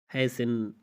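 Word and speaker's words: hasten: तो आप कहते हैं फासिन, लिसन, हैसिन, ऑफिन, तो इन चारों मिसाल में आप देख सकते हैं कि टी के बाद ई एन आया हुआ है, तो यहाँ पे टी को साइलेंट किया जा रहा है, खामोश किया जा रहा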